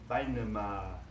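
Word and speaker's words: بينما: Now in Arabic, it's bainama, bainama, with a long A at the end, bainama, bainama.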